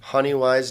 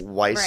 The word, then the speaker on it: Honeywise: adventure yet how about honey wise where do we find you guys on the interwebs honey wise dot us and it's wwise like an owl not many ways weiss here not like i